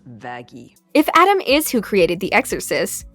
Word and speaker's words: Vaggie: I named you after the best thing ever vagi actually it's pronounced vagi if Adam is who created The Exorcist then